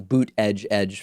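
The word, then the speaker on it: Buttigieg: Remember, early on, when people weren't sure how to pronounce Pete's last name, he said it's like the word boot followed by the word edge twice.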